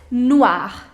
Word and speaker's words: noir: Black is noir, noir.